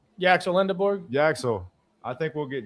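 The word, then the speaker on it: Yaxel Lendeborg: Yaxel Lindeborg.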